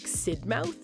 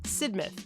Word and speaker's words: Sidmouth: at this beauty yes it looks like sidmouth but it's pronounced sidmouth and it has great Vibes this is one